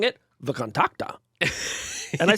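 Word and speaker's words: VKontakte: by creating a very popular Facebook clone called V contact at least that's how I pronounce it how do you pronounce it I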